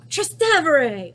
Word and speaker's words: Trastevere: to Rome and she showed me how to pronounce that little area. Ah, Trastevere!